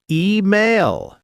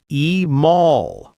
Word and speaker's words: email: Email, not e-mall.